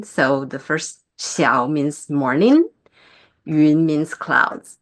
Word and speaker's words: Shiau: would just say it slowly again, Xiao. So it sounds like shower, but it has the shorter like accent. And so there are two characters in my Chinese-oriented name. So the first Xiao means morning, Yun means clouds.